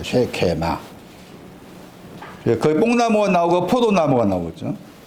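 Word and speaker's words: שקמה: 그 뽕나무라는 그 히브리 단어의 기본적인 그 발음이 쉐케마입니다. 쉐케마.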